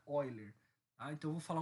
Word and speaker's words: Euler: Que é a constante de Euler, ou Euler, para quem prefere falar, mas eu acredito que o nome correto, né, a pronúncia correta seja Euler.